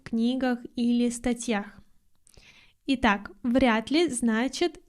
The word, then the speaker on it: вряд ли: Следующее слово, а точнее не слово, а два слова, вряд ли. Обратите внимание на произношение. Д мы произносим как Т.